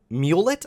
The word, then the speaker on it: Mulet: transgender girl named Rose Mulet. I believe that's how to say her name because it's not spelled the same as mullet.